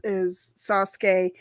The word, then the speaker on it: Sasuke: name was Sasuke, or it was pronounced as Sasuke in the original like 26 episode or 52, sorry, 52 episode series. They pronounced it as Sasuke. But I think it was Sasuke. But then in the movies, every character pronounced his name instead of Sasuke. It was Sasuke or something. It was the accent the where the accent was on his name was different, but it was the